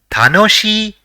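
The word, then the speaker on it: たのしい: So, it will be pronounced as tanoshi, which means enjoyable.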